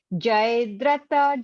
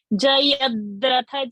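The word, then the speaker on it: जयद्रथ: Bhishma Drona Tata Jayadratha Jala Gandhar. See, Jayadratha, ya is having blue color. Where is your pronunciation going? Jayadratha Jala. Jayadratha Jala. Tha is a Mahaparana.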